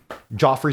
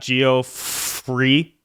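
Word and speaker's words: Geoffrey: one of those right how do you say it Joffrey St John it's not geof free no it's never that Jeffrey St John uh oh it's Gio Fray G FR gy g g Frey Jeffrey Jeffrey Jeffrey St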